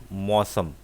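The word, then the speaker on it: موسم: We pronounce mosam.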